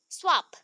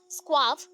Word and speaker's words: Schwab: तो specially experiment किसने किया था, देखो, Joseph J स्वाब, स्वाब, नॉट स्क्वाब, that is स्वाब, ठीक है, SCHWAB, CH प्रोनाउंस नहीं होगा, जस्ट लाइक साइंस में